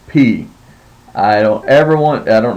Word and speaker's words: pi: and probably know uh we call it Pi in uh in our English American English uh but it's actually pronounced P now remember that if